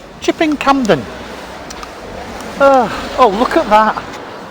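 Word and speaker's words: Chipping Campden: street in shipping camden i can't say it properly chip in camden chipping camden oh oh look at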